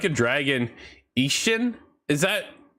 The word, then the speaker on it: Ishin: The I's sound like E's, E's sound like A's.